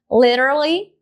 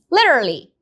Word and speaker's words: literally: Se você tem dificuldade de falar literally, pensa em duas sílabas só. Liter, literly. Então, não precisa colocar mais uma sílaba ali no meio.